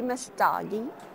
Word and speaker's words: Messdaghi: We're back with Mastagi. Did I pronounce that it right?